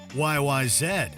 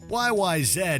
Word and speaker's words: YYZ: Russia's near impossible instrumental YYZ and yes it's pronounced Zed the title refers to